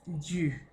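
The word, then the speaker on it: dû: Este es du, con accent circonflexe, avec accent circonflexe. Pourquoi? Parce qu'il y a notre du que nous déjà connaissons. Du est de plus le. ¿Ya? C'est la même pronunciación. ¿Sí? Es la misma pronunciación, solo que le pusieron el acento circunflexo para distinguir. Eso se llama tilde diacrítica. ¿Sí? Para distinguir la función.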